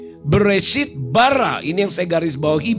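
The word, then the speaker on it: ברא: Yang di kuning itu ya, dalam kurung kuning itu huruf Beit, Resh, dan Alef. Bacanya bara.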